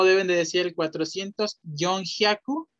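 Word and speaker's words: 四百: 400 es regular, o sea que sería Yonhyaku. Yonhyaku, hi. También Shihyaku existe, pero es más común con Yon. Yonhyaku. Pero pueden decir Shihyaku. 500.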